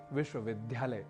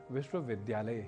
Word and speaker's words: विश्वविद्यालय: एक प्रसिद्ध उदाहरण है विश्वविद्यालय जिसे आप अक्सर सुनते होंगे विश्वविद्यालय के रूप में जो कि गलत है इसका शुद्ध उच्चारण विश्वविद्यालय ही है तो बात